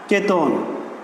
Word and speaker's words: কেতন: ওকে, এরপরে এ দিয়ে কেতন। আমরা সূত্রে দেখলাম কেতন, অর্থাৎ মধ্য অয়ের আগে এ থাকলেও সেই অয়ের উচ্চারণ হবে ও এর মতো। তাহলে এর সঠিক উচ্চারণ হচ্ছে কে তন।